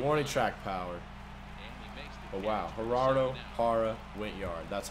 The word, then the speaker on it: Gerardo Parra: Oh wow, Gerardo Parra went yard. That's how you say his name. Gerardo Parra.